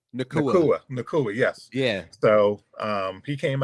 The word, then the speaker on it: Puka Nacua: Puka Nacua. Nakua, yes.